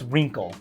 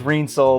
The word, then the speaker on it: Reencle: the name of it well it's uh it's wrinkle wrinkle wrinkle yeah all right I've been pronouncing it wrong I know I thought it was rain soul but it's wrinkle and uh yeah this is